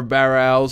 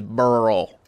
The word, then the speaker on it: burl: __ ] you not the correct pronunciation of this word is burl they're called burls it sounds like some